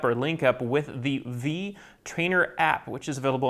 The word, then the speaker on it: Vi: And that V is actually a capital V with a lowercase I, but it's pronounced V.